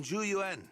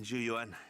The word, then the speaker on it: Zhu Yuan: Like, I always get the pronunciations close for Zhu Yuan. The only thing I mispronounce is the only part that I mispronounce is forgetting to put the U in Yuan.